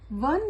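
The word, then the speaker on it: one: Basically आप देख सकते हैं यहाँ पर वन में व का साउंड आ रहा है।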